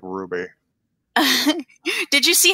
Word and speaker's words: RWBY: the insistence of this show on making me pronounce that like ruby did you see how they did did you